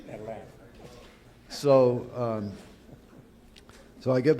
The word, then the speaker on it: Atlanta: I come back to Atlanta which is by the way how you pronounce it. Atlanta. Atlanta. Not Atlanta. Atlanta.